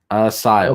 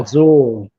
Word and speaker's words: Asyl: Chase says Google pronounces it Asile. Azul. Asile. Azul. Asile. That says Azul. No, that's Asile. No, it says Azul. No, the U is pronounced like a Y, like Asile.